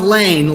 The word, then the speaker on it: Laehn: Yeah, it's pronounced Laehn, like L-A-N-E. Okay, I got that. Laehn.